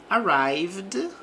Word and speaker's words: arrived: The delivery arrived on time. Então, a entrega chegou. Aqui nós não pronunciamos o e neste verbo.